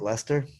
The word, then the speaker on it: Leicester: keep it straight but at least i know how to pronounce it right lester i grew up near